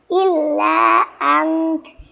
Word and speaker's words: إلا أنت: কারণে আংত বলে থামতে হবে, লাস্টে তাটা হালকা উচ্চারণ করতে হবে, ইল্লা আংত, ইল্লা আংত, illa ant illa ant illa ant إلا أنت আচ্ছা, তাহলে